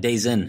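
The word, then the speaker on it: DAZN: but it's Daz n it sounds like days in right yeah that's what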